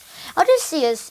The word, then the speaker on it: Odysseus: man called odysseus or as we pronounce it in english odysseus is the king of